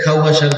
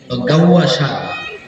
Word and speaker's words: গাউয়া শাহ: নাম পরিবর্তন করে ফেলেন, এখন থেকে আর খাওয়া শাহ বলবেন না, গাউয়া শাহ।